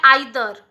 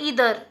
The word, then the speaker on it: either: बट यहाँ पे British में कहा जाता है आइदर। ब्रिटिश में का प्रोनाउंस कैसे किया जाता है, आइदर करके। बट अमेरिका में कैसे प्रोनाउंस किया जाता है, ईदर। क्या कहते हैं, ईदर।